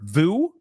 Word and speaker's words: Vue: Actually, I've heard Vu and I've heard it pronounced View. I've heard it 2 different ways. I'm going with View because it's V-U-E. To me, it sounds like View, but I've heard people say Vu as well.